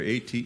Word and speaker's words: Ater: Ater, A-T-E-R. Yeah, so that's kind of my life right now. A-T-E-R. There we go. Yeah, Yeah, you got to say it right. Yeah. Ater.